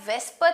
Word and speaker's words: VSEPR: in speaking VSEPR VSEPR some people call it as Vespa theory and it's up to you whichever way you want to pronounce it you can call it that way okay by the